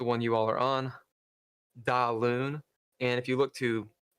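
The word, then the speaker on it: Daoine: So you can pronounce it a couple different ways. Most people say DaLune because that's what it looks like. You can say Dinna or Doina.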